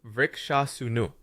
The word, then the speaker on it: Vrksasana: Vrksasana, or tree pose, is pronounced vrikshasunu.